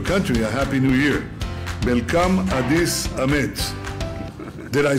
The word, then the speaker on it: መልካም አዲስ ዓመት: Melkam Adis Amet.